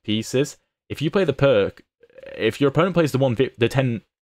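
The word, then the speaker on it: Pirc: good opening next up the perk or the pier how you're supposed to pronounce it also that's a hilarious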